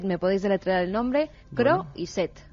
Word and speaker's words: Croiset: Croiset. Gerard, como suena, Croiset, no es. croissant, como decía Alberto.